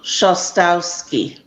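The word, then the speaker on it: Szostowski: I think that's pronounced Shostowski. John Shostowski. The SZ is the sh sound in Polish.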